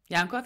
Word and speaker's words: Yankov: of practical inspirational episode with and yanov yanov is that the right way to pronounce that was really well said yes